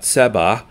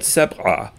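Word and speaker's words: سبعة: Seven looks like a V and is pronounced seb'a. So make sure you get the ein sound, not seb'a, but seb'a, like that, seb'a.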